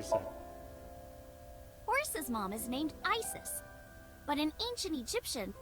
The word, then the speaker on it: Isis: horses mom has named Isis but an ancient Egyptian it's pronounced closer to ISA or ASA hmm how do I